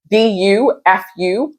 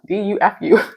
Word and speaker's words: Dufault: But if you have not heard of Tiffany Dufault, I hope I'm not saying her name wrong. It's Dufu. Ooh, Dufu.